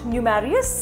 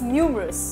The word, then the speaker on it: numerous: hear heard heard not heared okay it's not num marious it's numerous keep on pronouncing these words side by side with me